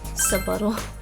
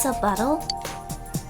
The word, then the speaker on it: subtle: Subtle. Did you think the word subtle is pronounced subuttle? Kanji's got a subuttle.